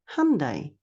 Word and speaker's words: Hyundai: If you're wondering, it rhymes with Sunday, Hyundai.